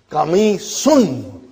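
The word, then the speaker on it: قميص: Hadha qamisun. Remember, we got to pronounce it.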